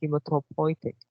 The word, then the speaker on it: hematopoietic: marrow the second line the third words are pronounced uh hematopoietic you for now uh hematological so the first